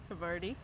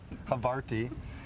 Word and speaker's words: havarti: sauce in there the havar havari havarti havarti we all have our own pronunciations yours is correct uh over the top